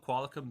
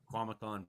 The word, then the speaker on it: Qualicum: And 5 to 15 centimeters for Duncan, Ladysmith, Nanaimo, Parksville, Qualicum Beach, Comox, Courtney, Port Alberni. I always love when Frankie says Qualicum Beach. Oh, does he wildly mispronounce it? Quamacon Beach or something every time.